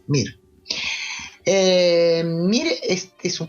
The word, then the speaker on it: Mir: mir ya ves que este es un nombre muy fácil de de pronunciar y en todos los idiomas es igual mir eh mire Este es